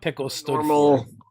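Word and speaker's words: PICEL: the organization was what pickles paranormal investigations um something in logistics paranormal investigative criminal enforcement and location so it's spelled p-i-c-e-l pickle uh and like though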